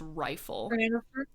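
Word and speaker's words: Reighfyl: this out it's like r e i g h f y l pronounced rifle oh oh I did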